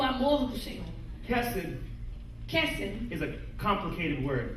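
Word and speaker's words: חסד: This word right here Esta palavra na tela is pronounced kesed.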